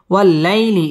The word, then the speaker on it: والليل: يغشاها والليل إذا يغشاها ওয়াও ঠোঁটগোল করে উচ্চারণ করতে হবে। ওয়াল্লা লাম তাসদীদ ওয়ালা হরফ ওয়াল্লাই জবরের বাম পাশে জাজম ওয়ালা ইয়া লিনের হরফ তাড়াতাড়ি পড়তে হবে। ওয়াল্লাইলি ইজা মদ্দে তাবাঈ এক আলিফ টেনে পড়তে হবে।